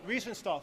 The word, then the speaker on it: Riefenstahl: And her name was Rennie, I can't pronounce the last name. Riefenstahl. Riefenstahl, thank you.